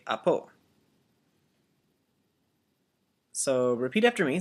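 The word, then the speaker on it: ἀπὸ: and it means that it's going in a downward inflection. And so it's, instead of apo, it's apo, coming downward like that. Say apo.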